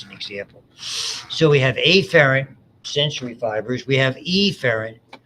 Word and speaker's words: afferent: The names that you will see are afferent, notice the way I pronounce it, and efferent. Efferent is really where it started.